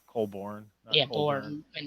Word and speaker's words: Colborn: Some people say Colburn and they spell it with the URN when it's ORN. I did that for a long time, and it's Born. Colborn.